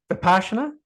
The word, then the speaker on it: Vipassana: Vipassana, yeah.